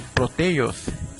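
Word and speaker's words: πρωτεῖος: ¿Sabías que el nombre de la proteína proviene del griego, que se pronuncia como proteios, y que este significa prominente o de primera calidad?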